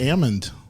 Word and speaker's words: almond: day if they say almond country yeah that oh brother the only name we actually pronounce it ammond but you're right it is almond country ammon country so yeah but we've been